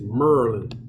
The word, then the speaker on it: Maryland: say it like y'all y'all gotta say yeah it's merlin i gotta say like